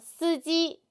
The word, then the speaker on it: 司机: 我们一起读司机司机 Tone should be flat. 司机司机 Very good.